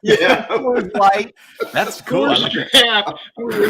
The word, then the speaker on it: Kor-Drath: the stream about debating on how to properly pronounce the title of your book, Andy. You're muted. Kor-Drath. Whoa. And And you're what muted. did you think it was? We were both saying like Kor-Drath and Kor's Draft and stuff like that.